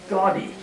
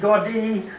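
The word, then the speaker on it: Gaudí: a little bit about Antonio gaudy God D they pronounce it Gordy I thought this stuff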